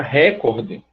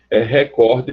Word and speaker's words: recorde: Por isso, a palavra recorde seria um absurdo em português. Porque se você trocar o D final por um T, você coloca o acento no canto certo, recorte.